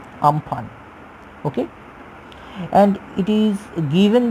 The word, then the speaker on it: Amphan: And if we want to discuss about its name pronounced it as UMPHAN, Amphan.